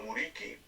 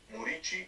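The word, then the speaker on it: Muriqi: a lo a lo Muriki, Murichi se pronuncia en el Mallorca.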